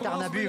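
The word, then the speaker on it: Tärnaby: juste la petite explication vous dites tarnabu vous avez bien raison parce qu'en suédois n'est-ce pas Luc alfond le y se prononce u comme bug Mar bu d'ailleurs ça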